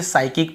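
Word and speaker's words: psychic: को नहीं पढ़ते हैं ऐसे ही साइकिक भी होता है ठीक है क्या होता है साइकिक भी होता है यहां पे हम क्या क्या लिखते हैं वहां पर भी हम स्टार्ट करते हैं पी से एस वाई सी एच आई सी यहां पर भी हम देखिए साइकिक पढ़ते हैं p को यहां पर भी नहीं पढ़ते यदि ए के पहले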